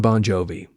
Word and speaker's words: Bon Jovi: I got fired unquote so he became John bonjovi because that's how his last name should be pronounced and often wasn't and got into a